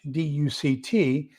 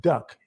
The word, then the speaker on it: duct: heating system and uh people mispronounce that so I went from duct d-u-c-t and now people call it duck d-u-c-k and so that's kind